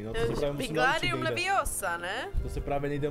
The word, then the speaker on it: Wingardium Leviosa: Především slabiku Gar vyslovte zřetelně a dlouze. Proneste zaklínací formuly zřetelně a nahlas. To řekni. 3, 2, 1. Wingardium Leviosa.